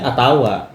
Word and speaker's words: utawa: Kalau orang Banyumas dibacanya atawa. Ya. Atawa. Di sini itu utawa kan begitu toh.